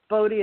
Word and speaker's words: BOTI: So that's why we pronounce it BOTI. But, BOTI is fine.